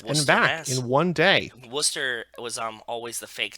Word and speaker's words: Worcester: where you're from because it's spelled goofy so you only know that it's called Worcester if you ever been Worchester for anybody that doesn't know about Massachusetts it's spelled like Worchester but it's called Worcester as in w s t r that's how you yeah